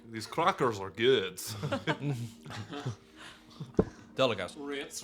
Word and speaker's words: Ritz: Ritz rhymes with fits.